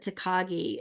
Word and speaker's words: Takagi: really big into anime and I think you pronounce it tekagi is that right and I said yes it is and now he comes